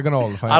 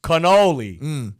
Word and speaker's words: cannoli: Cannoli. There's no G. It's a C. Yeah, there is no G in it. So why you say ganoli?